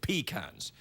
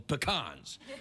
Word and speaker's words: pecan: I have spent time in the South and the people who farm these nuts call them peacans. It's only pretentious people who call them pecans.